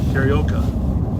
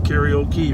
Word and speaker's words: karaoke: But my problem is when you're singing, it's karaoke, right? Karaoke. Maybe I got the accent on the wrong syllable. You've got one too many syllables.